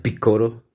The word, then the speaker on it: Piccolo: ocurre el caso de picor o no para nosotros en latino es Picoro porque pues en japonés se pronuncia piccoro Picoro daimao y por